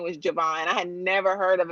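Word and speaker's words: J'Von: And so his name is spelled J apostrophe VON, but Right. people still call him Javon though.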